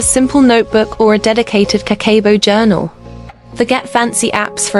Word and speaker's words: Kakeibo: Kakeibo, pronounced Kakeibo, literally means household finance ledger.